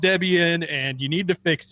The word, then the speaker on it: Debian: I think I kept calling it Debian until we got an email from a nice user. It's like, there's a reason it's called Debian and you need to fix it, but they were nice about it.